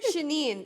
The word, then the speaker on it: Chenin: Chenin. It's like chenille.